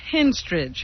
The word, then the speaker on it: Henstridge: Natasha Henstridge, who, of course, is a beautiful woman. And the only actress whose name rhymes with ostrich.